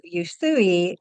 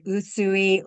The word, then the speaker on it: Usui: Usui or Usui, however you want to pronounce it, his teachings are very specific.